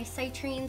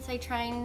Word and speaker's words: citrine: My citrine, citrine. That's pretty. Everyone pronounces it differently.